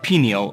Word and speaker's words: pineal: the pineal gland, and two important neurotransmitters, serotonin and melatonin. Let's start with the word pineal or pineal. Both pronunciations are correct.